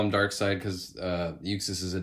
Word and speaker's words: Darkseid: to pronounce uh words i always for the longest time thought it was dark seed and i know i'm